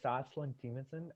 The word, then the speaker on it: Soslan Temanson: So my name is Soslan Temanson, Soslantemanson.